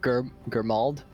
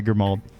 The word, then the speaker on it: Grimald: Baldurn will walk up to the elf and ask, By chance, would you be Was it Germald? Is that how you pronounce that? Yeah, Grimald.